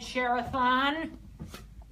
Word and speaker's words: Chairathon: today out of 13 the lcj sheriff on rhymes with marathon that's a pretty good